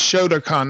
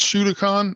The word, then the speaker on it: Shotokan: three yeah she's uh it's Shotokan not shoot a con it's spelled s-h-u-a-k-a-n-e I